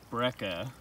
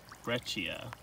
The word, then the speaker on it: breccia: The way it's spelled almost looks like breca, but I guess it's breccia.